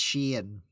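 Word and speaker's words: Shein: shane shane interesting interesting you see i want to pronounce it like the uh uh like uh that tribe that tribe uh the cheyenne i know it isn't it's close it's sheen well it's a fashion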